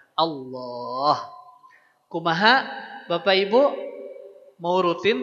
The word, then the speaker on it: Allah: Lafaz Allah ini dibaca tebal. Tebal bukan di oan. Ya, saya tekankan lagi. Tebal bukan dian. Caranya dengan si pangkal lidah kita yang diangkat agar ee keluar suara yang tebalnya.